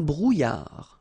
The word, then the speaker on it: brouillard: Un brouillard. Final D not pronounced.